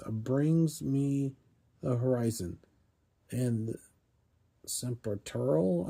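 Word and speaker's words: Sempiternal: me the horizon and serural I think is how you say that. Uh, S E M Tural Saturural. I think that's how you pronounce it.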